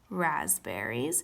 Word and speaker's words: raspberries: today we have strawberries raspberries which raspberries the spelling of it always trips me up but that silent P is correct and blackberries and we're